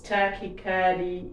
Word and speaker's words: tachycardia: I was tachycardia. Is that how you say it? Tachycardia, yeah. Tachycardia.